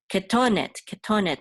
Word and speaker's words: ketonet: Ketonet, the accent mark is in the middle syllable.